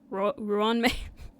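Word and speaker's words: Ruan Mei: I try to say like Ruan Ruan May, but like Ruan May, but it always sounds like Ron. Like I'm just calling her Ron.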